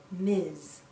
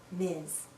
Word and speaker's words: Ms: mrs jones m s we pronounce this as miz miz sounds like a z at the end miz a woman can choose